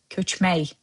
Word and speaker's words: köçmək: Remember, those words hələlik, ürək, where k sound at the end were replaced with y sound to soften the impact. Same applies here, köçmək.